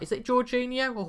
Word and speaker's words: Jorginho: Jorginho, that's right. Is it Jorginho or Jorgi?